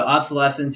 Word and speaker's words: obsolescence: perfect example of what's called planned obsolesence so obsolescence you pronounce that like adolesence so adolesence obsolesence obsolescence